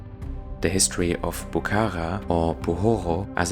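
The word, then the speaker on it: Buxoro: The history of Bukara or Buhoro as it's pronounced in Uspek stretches back many millennia, but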